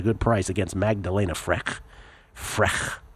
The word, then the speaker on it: Frech: Frech is how you pronounce that.